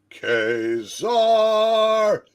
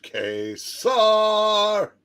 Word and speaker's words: Ka-Zar: I am Ka-Zar, not Ka-Zar. Yeah. Anybody Hey. that pronounces it like that is dumb.